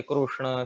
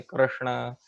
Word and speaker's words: Krishna: So accordingly, somebody may say Krishna, somebody may say Krishna. Some languages don't even have the syllable, R. They don't have that vowel R. So they may not even be able to pronounce the name properly.